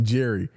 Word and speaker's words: Jerry: that's okay but also my name is pronounced Jerry okay all right all right